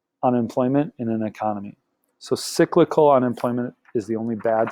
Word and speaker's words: cyclical: So the only bad type of unemployment is this, and how you pronounce it is cyclical. Cyclical sounds like business cycle, so you should be making that connection.